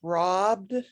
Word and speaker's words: robbed: street main three okay that word is robbed robbed um remember that vowels in english have a lot of different sounds and um now robe i'll just make a break here r o b e like something that you would wear that would be spelled r-o-b-e robe rope okay so this is ra ah robbed wrong i don't know